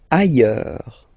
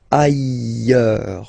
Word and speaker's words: ailleurs: Ailleurs. Look, final S not pronounced, and then you've got this y sound. Ailleurs.